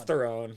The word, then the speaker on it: Theron: that for me it's their own it's their own it's not theron yeah everybody says there